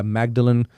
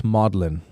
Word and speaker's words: Magdalen: want to go by magdalin it's not magdalin College it's modlin modlin yeah you don't say magdalin oh but it's spelled Magdalene it's spelled magdalin but you say modin modin okay so went